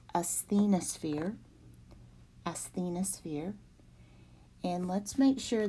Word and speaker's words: asthenosphere: So this is pronounced asthenosphere.